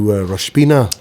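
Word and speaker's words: Rosh Pinah: So, once again, you said you're driving off to Roshpina. Roshpina? You've actually memorized the name and you're pronouncing it correctly.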